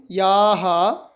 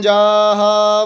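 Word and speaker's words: याः: ओम याहा, इसको आप बीच में पेट कटा हुआ देख रहे हैं जो यो के, तो इसको हम जा का उच्चारण करेंगे। ओम याहा फलिनिर्जा अफला अपुखपा जाश्च पुष्पिणी बृहस्पति प्रसूतास्ता नो मुंचन्त्वगुं हसः।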